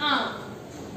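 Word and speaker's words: आँख: दिया हुआ है आंख, तो उसका उच्चारण कैसे करते हैं? नाक और मुंह के साथ, आंख और मुंह के साथ इसका उच्चारण होता है आंख।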